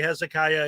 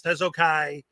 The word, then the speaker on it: Hezokuai: A lot of people say my name wrong and say Hezekiah. It's Hezokuai.